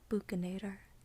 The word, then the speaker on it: buccinator: So the T phoneme would normally be pronounced T, but because this has this little V symbol underneath it, it turns it into a D, kind of not quite a D, but like a tap sound.